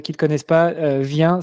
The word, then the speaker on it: Viain: préciser, s'il y en a qui ne te connaissent pas, Vien, ça s'écrit V-I-A-I-N. Ouais, ça c'est pas évident.